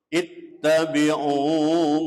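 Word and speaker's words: اتَّبِعُوا: Ittabi'u dibaca panjang, hukumnya namanya mad asli atau mad tabi'i, panjangnya 1 alif atau 2 harokat. Alasannya setelah harokat dhamma ada wawu sukun.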